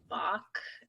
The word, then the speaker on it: Bach: to a lot of bach okay that rhymes with block rocks yeah uh bach